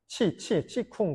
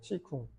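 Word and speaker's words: qigong: 중국식 발음인데, 키공, 뭐 키쿵, 뭐 이제 기공을 뭐 그렇게 표현하잖아요. 서양에서 많이. 치쿵 그래요. 치쿵.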